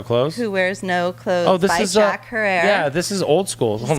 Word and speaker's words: Jack Herer: I don't know her it is zacchara yes jack herer not jack her or herer or jack forever Herr